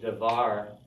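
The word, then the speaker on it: דְּבַר: going to stay put, but this is a propretonic syllable. It's open, and it's going to reduce, and it reduces down to a shva. So then we get devar with a vocal shva.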